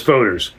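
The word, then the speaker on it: foeder: The beer is aged, typically for 2 years, in 294 huge oak barrels known as foders, a Dutch term pronounced like foder, some of which are older than 150 years and which range in size between 3,100 and 17,000 gallons.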